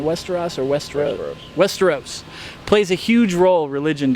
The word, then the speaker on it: Westeros: Is that how you pronounce it? Westeros or Westeros? Westeros.